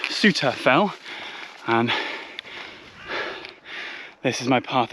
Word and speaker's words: Souther Fell: This fell that I'm on at the moment is actually a spur of Blencathra, and although it's spelt Southerfell, it is pronounced Southerfell, and this is my path ahead of me, a long diagonal track going straight up the side.